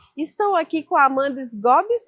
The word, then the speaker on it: Sgobbi: Estou aqui com a Amanda Sgobs. É isso mesmo, Amanda, que pronuncia seu nome?